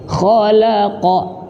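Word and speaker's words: خلق: Maka huruf lam yang di tengah-tengah huruf tebal jangan sampai terbawa tebal. Nah, lah kenapa? Karena tanpa sadar ya kita juga bacanya ke bawah tebal. Khalaqa ya. Alladzi khalaqal. Nah, maka cara yang mudah, lamnya harus benar-benar dibuka mulutnya ketika mengucapkannya. Khola.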